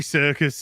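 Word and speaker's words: Serkis: you pronounce it I I thought it was circus isn't it it's like Circus Circus uh but I'm going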